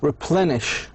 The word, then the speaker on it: replenish: immediately uh preceding like replenish. Replenish. Devilish. Adjective. Replenish. Replenish. The stress should be on the syllable before or precedes the suffix ish.